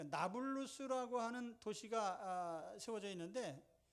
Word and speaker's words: 나블루스: 그 나블루스라고 하는 도시가 세워져 있는데, 나블루스라고 하는 그 이름은 아랍식으로 발음을 한 건데요.